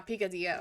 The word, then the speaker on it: picadillo: Is it picadillo? It says it's Latin American, which makes me think it's supposed to be pronounced in Spanish. But I could be wrong. Yeah, picadillo.